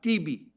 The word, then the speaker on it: Tibi: He's been in the Knesset for God knows how many years, 25 years at least, whose name rhymes with Bibi, Tibi, Bibi. Hence the slogan for a genius copywriter, Bibi or Tibi.